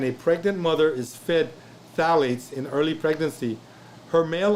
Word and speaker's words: phthalates: starts with a p i did say the p which is silent phthalates okay are in everybody okay it's like philosophy okay phthalates it's a slight whizzing by the ph okay dr shaw was